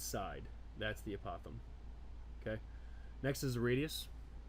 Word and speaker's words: apothem: a polygon to any side is called the apothem yeah because I pronounce this wrong for so long here we go opossum so apothem is the correct way to pronounce it and that is this distance right